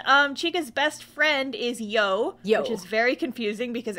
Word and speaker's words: You: chica's best friend is Yo which is very confusing because every time I put it in my notes um it's spelled y-o-u so I'm like yo and she and Chica